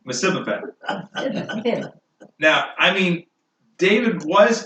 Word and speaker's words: Mephibosheth: Now, how do you pronounce his name? Mephibosheth.